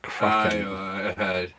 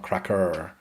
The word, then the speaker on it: Kraken: So yeah, we really got to work on like making sure there's a good solid N sound at the end of that word. When we are saying Kraken and not cracker.